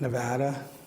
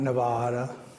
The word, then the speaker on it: Nevada: And and for those of you who aren't familiar, we pronounce it Nevada, not Nevada. Nevada.